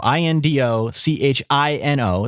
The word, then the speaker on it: Indochino: all right well listen I said it before indochino yeah indochino i n d o c h i n o it's pronounced indochino it is one of the largest